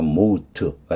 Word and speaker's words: mote: MOT 발음은 MOU, OU로 봐요. 모트가 됩니다.